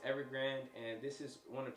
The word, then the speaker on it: Evergrande: video on this where i was saying every grande it's actually pronounced evergrand and this is one